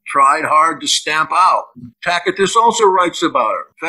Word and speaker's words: Tacitus: depicts her as corrupt i love reading tacitus or takatis as i pronounce i love listening to it at night tacatus and cassius dio or